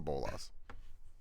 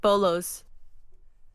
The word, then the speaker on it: bolas: That's a bolas. I got you. Literally what they're called. I thought they were pronounced bolos. That's what I was thinking too, and it was like, I thought it was always just plural of bolo.